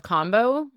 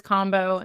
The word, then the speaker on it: Kambo: I've never confirmed the right way to say it, but I say it as Kambo. It's the American thing.